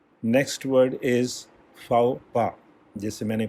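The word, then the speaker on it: faux pas: next word is फाओपा, जैसे मैंने pronunciate किया था, स्पेलिंग आप देख रहे हैं FAUXPAS, इसमें X भी साइलेंट है और S भी साइलेंट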